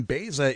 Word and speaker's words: Baeza: for you from Law Enforcement Against Prohibition Baeza is joining us and my apologies if I've mispronounced your name no you pronounce it